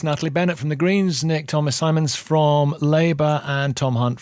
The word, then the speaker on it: Nick Thomas-Symonds: Nick Thomas-Symonds.